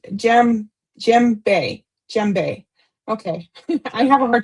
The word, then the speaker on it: djembe: Okay, the drum that Sandy mentioned, it's pronounced djembe.